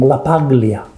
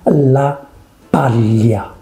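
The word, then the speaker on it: LaPaglia: son is on tv in australia and they pronounce the name la paglia i'm so sorry but this guy represents your country and you learn to say his name anthony la pallia you cannot change the name of someone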